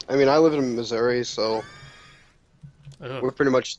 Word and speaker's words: Missouri: Have you ever met anyone who says Missouri? Yes, and they're wrong. Ooh, damn. And why are they wrong? Because there's an I at the end of it.